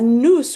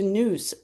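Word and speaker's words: nous: He felt that a noose which is spelled n o u s which means soul a noose would depart from the one and would then later be able to return to that one.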